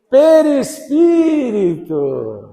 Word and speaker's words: perispírito: Quase, a primeira sílaba você acertou. Perispírito.